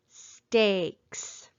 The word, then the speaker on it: steaks: And this time, digraph EA is going to make the long A sound. How do we code it? We underline digraph EA. We cross out the E because it is silent. And we put a macron over the A so we remember that it's making the long A sound, like in the word steaks.